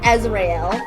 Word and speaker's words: Azrael: And I keep saying a zel. A as Azrael. Azrael. I need to actually say it right.